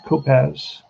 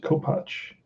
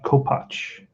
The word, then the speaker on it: Kopach: people look for that that's how you pronounce it co-patch it's a polish name so it's it's going to be fred uh it's going to be george kopach and what i'm going